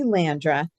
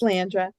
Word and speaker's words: Landra: And it's actually Landra. It's usually Landra. mispronounced the first couple times, but it's Landra.